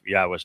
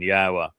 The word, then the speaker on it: Yahweh: There is the yah conclusion of the the name which certainly tells you how to pronounce three of the four letters in Yahweh.